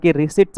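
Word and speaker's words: receipt: spelling विचारलेला आहे आता किती वेळेस सांगितलेलं आहे रिसीट स्पेलिंग आर सी त्यानंतर आय येतो आणि त्यानंतर पी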